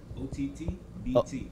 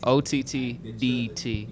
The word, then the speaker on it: OTTDT: OTTBT. OTTBT. OTTDT. D as in dog.